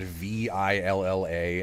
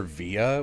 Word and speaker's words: villa: debating whether we should pronounce the word V-I-L-L-A as Villa or Via, which I believe are both correct in different circumstances.